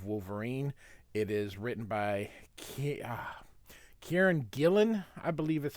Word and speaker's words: Kieron Gillen: It is written by Kieron Gillen, I believe is how you say his name, with art by Adam Kubert.